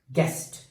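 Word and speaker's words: guest: गेस्ट इन the word गेस्ट we have a silent letter that is यू और halves.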